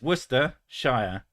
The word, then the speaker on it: Worcestershire: could say it was Worcestershire it's Worcester Shire it's not Shia yeah but the word is Shire but you pronounce it as sure when it's in a word yeah if you want